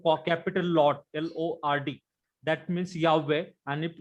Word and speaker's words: Yahweh: इफ यू सी इन एनसायक्लोपीडिया ऑफ जुडायका, they have given clear cut there that this name, the true name, true God, the pronunciation is Yahweh only.